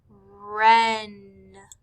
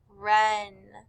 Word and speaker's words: wren: On number 5, we would have circled the words right, wren. Right, wren. Both of these words began with W-R, but since the W is silent, all we hear is the R.